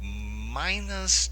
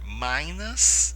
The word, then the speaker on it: Minas Gerais: queijo feito em Minas Gerais então Poderíamos dizer Minas Gerais eh por quê Porque a pronúncia do I em inglês eh geralmente com